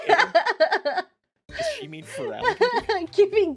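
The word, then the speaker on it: Feraligatr: Feral Guitar? Feraligator? Oh, Feraligator? Oh, I see. That was a very impressive mispronunciation, I gotta say.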